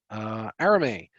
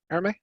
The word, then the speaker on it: Arame: Arame, currently taking private pilot lessons. Great. Are you working on private pilot, Arame?